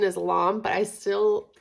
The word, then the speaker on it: lame: I'm like it's a lame and then we looked it up and it says the pronunciate pronunciation is long but I still feel so weird saying that but you want to